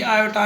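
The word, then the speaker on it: iota: इसका प्रोनाउंस कहते हैं आयोटा, और इस आयोटा की वैल्यू है अंडर रेडिकल -1।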